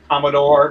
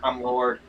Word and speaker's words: Commodore: It's Commodore, not Cum Lord.